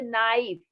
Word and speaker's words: knife: बहुत से वर्ड्स होते हैं, जैसे नाइफ, KNIFE, नाइफ। तो उसमें के क्या है? साइलेंट है।